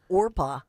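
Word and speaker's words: Orpah: This is a woman who her name is Orpa, which is a Bible name in the book of Ruth. And they called her Oprah. They mispronounced her name.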